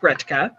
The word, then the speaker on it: Gretka: So the documentation says Gretki, which of course is pronounced Gretka.